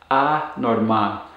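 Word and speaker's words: anormal: would be norman and a norman and when you pronounce these be sure to put the stress or intonation on the last syllable of the words so that you're stressing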